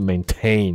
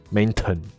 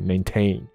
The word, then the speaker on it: maintain: 者应该它的发音是 maintain，不是 maintain， OK， maintain，可是变成名词的时